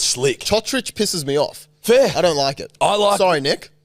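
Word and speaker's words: Cotric: So there was a player whose last name, he used to be called Kotrick, right? Nick Kotrick. He Yep. plays for the Raiders. Kotric. But now that they're starting to pronounce names properly, apparently his name is pronounced Chotrich, Chotrich.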